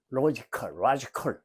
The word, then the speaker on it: logical: 자, 이제 logical reading에서 자꾸 칼이라고 읽지 말라고 그랬어요. logical. 고지고대로 읽으려고 하지만 독일어가 아니에요. 영어는.